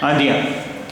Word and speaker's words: indiens: देखिए I-N-D-I-E-N, आंदियाँ, ये masculine singular है, और इसका प्लूरल हमने बनाया एस लगाकर I-N-D-I-E-N-S, आंदियाँ, लेकिन प्रोनाउंसिएशन दोनों का आंदियाँ ही होगा।